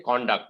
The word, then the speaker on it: conduct: it as a noun i would say conduct there are many words like these this is one of the examples i came across so i'm sharing it so remember the pronunciation changes when you use it as a noun and when you change it use it as a verb okay thank you you're